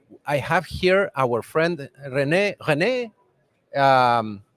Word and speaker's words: René Rohner: pronounce your name first so in German it would be Rene Rona Rene Rona okay it's a little